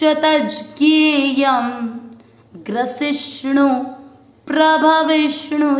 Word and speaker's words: विष्णु: चौथा चरण वापस, ग्रसिष्णु प्रभ विष्णु च। वापस, ग्रसिष्णु प्रभ विष्णु च, यहाँ पर विष्णु ना बोले अण है, अण इसलिए उच्चारण क्लियर है।